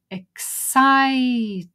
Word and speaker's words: excited: an easy one so the word is excited where's the stress on site so cross that one